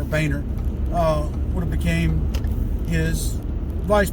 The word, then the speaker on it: Boehner: But the point being is that had Barack Obama passed, Joe Biden would have became the president, and Boehner, that's really how you pronounce it, not Bonner, Boehner, would have became his vice president.